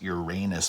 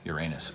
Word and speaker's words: Uranus: ignore it I mean science teachers have been trying to say Uranus because they're tired of people falling out of their chairs laughing every time something says your rain is but but I've looked it up multiple times and it looks like the actual pronunciation is Uranus so Neptune of course